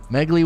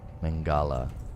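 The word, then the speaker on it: Mengele: does that is some crazy talk bro what megaly was in charge of auschwitz and did experiments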